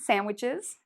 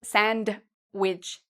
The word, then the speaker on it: sandwich: Also, if you like to eat sandwiches, you don't need to say sandwich, okay? We say sandwich. So the D is silent.